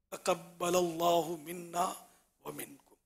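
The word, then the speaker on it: تقبل الله منا ومنكم: تقبل اللہ منا ومنکم یا منا ومنکا، یہ بھی چل جائے گا.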